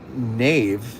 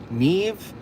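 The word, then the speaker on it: Niamh: Um, it being Irish, it's pronounced Nave. Nev. The AMH sounds like a V. Oh, so it's Gaelic. So, it's Nev.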